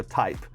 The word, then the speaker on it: TAIP: all right baby audio type first there's a reason because it's spelled this way t-a-i-p because they put an